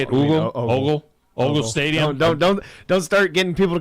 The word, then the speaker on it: Ogle: It says Decatur High School, but is that at Oogle Stadium there? Yes. Is that how you say it? Ogle Stadium.